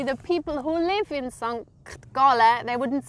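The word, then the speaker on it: Sankt Gallen: I would pronounce it Sankt Galle.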